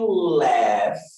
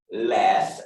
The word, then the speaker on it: laugh: To laugh. Laugh, essa é a pronúncia.